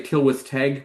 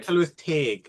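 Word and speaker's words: Tylwyth Teg: you were said like I'm going to say Tilwith Teg, but that's not right. Tell with Taig. It's a long E sound. Tilwith Teg.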